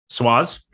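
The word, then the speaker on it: Swoz: Also from Swaz, S-W-O-Z. I don't know if I'm pronouncing that. How would you pronounce that? S-W-O-Z. Swaz?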